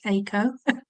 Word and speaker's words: Eiko: Just to correct you, it's Eiko. Oh, Eiko.